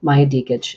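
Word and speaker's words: Maja Djikic: to spell it for you it's her name Maya diage and the way that you spell that is m a j a DJ i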